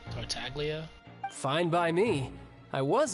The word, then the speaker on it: Tartaglia: basis wait that's how you say his name tartaglia fine by me I was in a bad